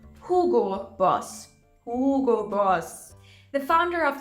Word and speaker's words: Hugo Boss: e o o so I hear this one being pronounced Hugo Boss a lot the correct pronunciation is Hugo Boss Hugo Boss the founder